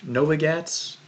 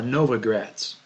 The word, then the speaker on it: Novogratz: this is from uh mike novigatz no let me see if i'm pronouncing this right his name right here uh novogratz mike novogratz okay he's from the